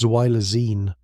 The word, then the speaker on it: xylazine: Xylazine, pronounced Zylazine, though most people in Kensington simply call it Tran, began appearing in Philadelphia's drug supply around 2019.